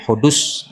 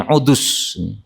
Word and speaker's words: Hudus: Ini ada juga yang membacanya dengan ain. Waqi' bin Udus. Ee sehingga apa? Ada dua versi ya. Ada yang pakai ain, ada yang pakai ha. Ya.